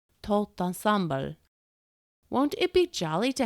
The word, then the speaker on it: tout ensemble: Carol, Sue, and the imp had also drifted over to admire the toot and scramble, as the imp insisted on pronouncing Louis's favorite French expression, tout ensemble.